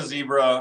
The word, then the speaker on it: zebra: So I had a zebra, or a zebra, as you guys from the Commonwealth call them. Sorry, just to correct you on this, do you have any friends called Debra?